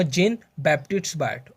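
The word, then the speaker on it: Jean-Baptiste Biot: इसका जो बैप्टिस्ट है वो प्रोनाउंसिएशन थोड़ी डिफिकल्ट सी है, लेकिन मैं दोबारा बोल के बताऊंगा। जेन बैप्टिस्ट बायट।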